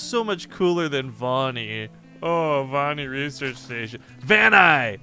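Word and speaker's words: Vaani: cuz we haven't argued about the way to pronounce this yet Von man come on Van ey Vani come get in my van ey little children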